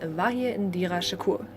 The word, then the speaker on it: Vahir Indira Shakur: Yes, it's not pronounced in English, it's pronounced like I'm saying it when I'm speaking German. I guess when it's like pronounced in English it's like Vahir Indira Shakur, but I speak German, so I just pronounce it like I do in a German way.